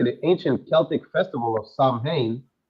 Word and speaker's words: Samhain: ancient Celtic Festival of Sam ha pronounced s wi so Barack the the